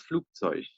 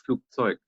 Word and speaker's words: Flugzeug: one more pronunciation thing is some people in German say das Flugzeug, so they pronounce the CH, they pronounce the G as CH, das Flugzeug. So, but you can also say das Flugzeug. So both is correct. So you can pronounce it as G, like G, or CH.